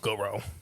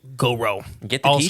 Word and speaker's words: Gowrow: goo the goo go now it's spelled g o w r o w So when you say it you got to say it like with the Goo Goo Goo yeah so Arkansas Goro Bardo Martius korus oh